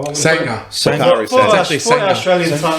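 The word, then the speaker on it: Sanga: Sanger. Bakari For Sanger. actually for Sanger. Australian tongue, it's Sanger.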